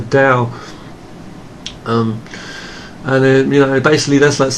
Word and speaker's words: Dao: yang is called the DAO okay sometimes pronounce the towel when it's a Dow and they basically that's